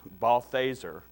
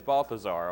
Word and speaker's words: Balthaser: speaker right there in the corner is Dennis Balthaser. Is that the pronunciation key you gave me? I thought it was Balthazar.